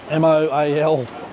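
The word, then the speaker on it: Moalboal: Moalbol. But I say it like mole and bowl, like a bowl that you eat out of, but it's a little bit different to that.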